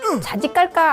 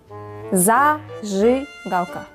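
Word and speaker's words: зажигалка: 겁니다 러시아어로 라이터가 뭐야 어 자지 깔까 아니에요 자짓 깔까 자꾸 자지 깔까 발음해요 아니라고 원어민이 들려주는 러시아로 라이터는 가입니다 자즈 가까 제랑 제는 전혀 다른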